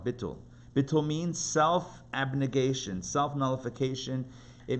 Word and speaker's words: bittul: holiness is something called bittul. I guess you could spell it B-I-T-U-L, bittul.